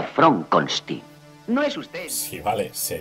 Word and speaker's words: Frankenstein: una dror Frankenstein es Fron conin Cómo ha dicho usted mi nombre se pronuncia Fron conin no es usted vale